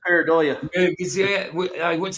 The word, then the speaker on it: pareidolia: It's pareidolia. How is it pronounced again? Roger? Pareidolia.